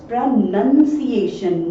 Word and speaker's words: pronunciation: And yes friends, that is pronunciation, nunciation, not nunciation.